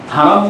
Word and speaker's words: হারাম: কোরআনে কিন্তু হেরেম শরীফ নেই, বাইতুল্লাহিল হারাম আছে, হারাম শব্দটা, কিন্তু তারা হারাম উচ্চারণ করতে চাই না, মানে তাদের জবান দিয়ে হারাম উচ্চারণটা হয়ই না, হেরেম বলে।